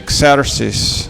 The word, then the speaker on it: Xerxes: In English we say Xerxes.